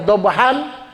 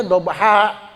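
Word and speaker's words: ضبحا: Harusnya dhan tapi kita bacanya dobha. Ah itu panjang alifnya. Alifnya jadi berfungsi panjang menjadi dua harakat.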